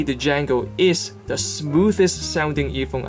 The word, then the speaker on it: Django: Next earphone I want to talk about is another earphone from Noble Audio called the Django. D-J-A-N-G-O. The "the" is silent, as Noble Audio kindly pointed out themselves.